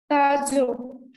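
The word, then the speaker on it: 타조: So in Korean, usually you pronounce here. Near the mouth. Ta, it is not da da jo da jo inside mouth. It is not ta ta jo ta jo.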